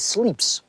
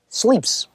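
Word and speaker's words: slips: word for tie is sleeps sleeps is the way it's pronounced I simply visualized the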